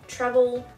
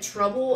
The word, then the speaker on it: Treble: Sorry, the reason why I keep saying Treble is because it's written as Treble. It's Treble. T-R-E-B-L-E. A lot of people keep thinking we're saying Treble, which he is Treble.